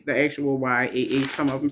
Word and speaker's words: Jah: Uh, some some of them says the actual Y, Ah, some of them says J A H, but it's pronounced Yah with a Y.